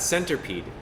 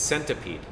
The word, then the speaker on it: centipede: cuz I mean but it's not Center pede it's centipede to me ya know